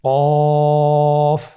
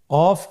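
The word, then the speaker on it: ق: কফ। কফ উচ্চারণের ক্ষেত্রে অবশ্যই 3 আলিফ টেনে পড়তে হবে।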